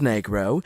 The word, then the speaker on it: negro: Negro, pronounced negro, is the appropriate word a Spanish-speaking child would use for the color black.